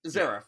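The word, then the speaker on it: Xerath: Like, is it Zerath? Is it Zerath? Zerath, yeah, Zerath is that. I didn't know how to say it.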